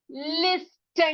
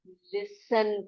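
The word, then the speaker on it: listen: अगला लिस्टन नहीं पढ़ेंगे, उसको लिसन पढ़ेंगे। सुनो, उसको हम लिसन पढ़ेंगे, टी को साइलेंट कर देंगे।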